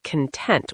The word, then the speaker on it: content: For the emotion, it's content with stress on the second part.